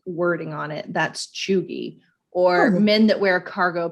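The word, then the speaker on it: cheugy: So it's pronounced like chew, CHEW, and then GEE. So it's pronounced chuggy, and it's been around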